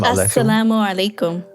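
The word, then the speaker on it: as-salamu alaykum: say and to say, is it sal or how do you say it? Salam salamulaykum. It's a little complicated. Sometimes you can just say salam. So that means peace. It's a simpler, shorter version.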